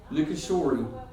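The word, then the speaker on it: Nishikori: And I think what I saw in that match was Nikishori finally, that's how you say it, finally brought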